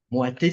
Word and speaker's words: Moaté: suis Moité, c'est ça comment on Oui, c'est prononce son nom?